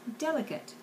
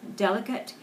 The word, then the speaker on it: delicate: the next word is delicate delicate delicate delicate delicate delicate even though there is a very strong accent on the first syllable delicate you still have to pronounce all of the syllables even that final T